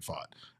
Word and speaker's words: Pfaadt: we know what we get out of Brandon fought uh and he's for real he is uh